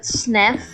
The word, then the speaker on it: SNXF: But I also broke my leggings, and SNXF, or how he likes to pronounce it, Snef, is currently online, and he is in our faction, so a lot of these diamonds are going to him.